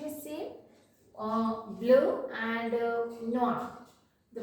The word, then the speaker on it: noir: Okay, now black, so it's noir, noir. Spelling is different. Here we are adding extra e, but the pronunciation is same, both, noir, noir.